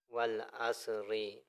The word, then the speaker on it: والعصر: بسم اللہ الرحمن الرحیم۔ واو لام زبر، ول عین صاد زبر، عصر رازر ری، والعصری، اور ادھر وقف کریں گے